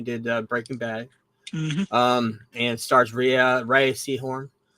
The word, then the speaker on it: Rhea: And stars Rhea Seehorn. Ray as I Seahorn, learned how to pronounce.